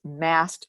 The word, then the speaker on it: mast: called mast cells and that's spelled m-a-s-t sometimes when I say it it sounds like m-a-s-s it's m-a-s-t cells and these cells think